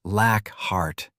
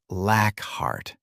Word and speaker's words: Lockhart: "It's pronounced Lackhart," Dead corrected, as Aidan took the ID from him. "Not Lackhart."